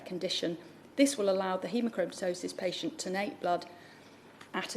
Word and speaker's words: haemochromatosis: house has considered genetic let me correct my pronunciation hemochromatosis near but as many as are of that